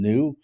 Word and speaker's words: Neu: It came out in February, and it's the third album from New, or Neu, however you want to pronounce it. Neu, yeah. I've heard both.